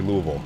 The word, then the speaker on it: Louisville: it's called lville elvil W have to say like that just imagine you're having a stroke and then say Louisville nice that's how I